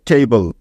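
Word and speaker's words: table: হয়ে যাবে টেবল টেবল আমেরিকানরা এ এর উচ্চারণটা এই এর মত করে তাই তারা এই শব্দটির উচ্চারণ করে টেবল টেবল ঠিক আছে মনে থাকবে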